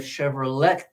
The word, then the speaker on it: Chevrolet: It's like a Chevrolet. We ate the T at the end of Chevrolet. Chevrolet, because it's French.